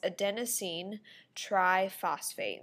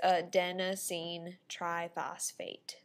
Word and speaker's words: adenosine triphosphate: And we can pronounce it as adenosine triphosphate. And so there's the pronunciation. You might want to practice that. So it's adenosine triphosphate.